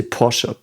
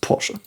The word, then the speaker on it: Porsche: I think and you know you you say pora it's pronounced pora just want to make that clear because I've